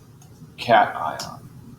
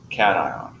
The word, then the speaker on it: cation: for any positive ion the pronunciation here is cation so we're talking about ions it is cation so what we find